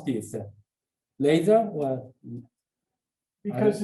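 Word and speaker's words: Lazear: Laser or Because it's a family name, it's difficult for me to know. uh-huh. Lazier.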